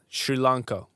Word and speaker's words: Sri Lanka: from s Sri Lanka it's pronounced sh not sir right Sri Lanka welcome man good to